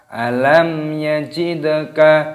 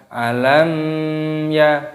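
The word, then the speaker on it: ألم يجدك: Alam yajidka mim sukun bertemu dengan ya dibaca idhar syafawi, jadi jangan dipanjangkan ataupun didengungkan. Misalkan alam ya tidak boleh, harus jelas.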